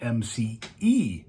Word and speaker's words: McEvoy: of the family that spells my last name mcavoy m-c-a-v-o-y spells it m-c-e-v-o-y phonetically they sound exactly the same so and i know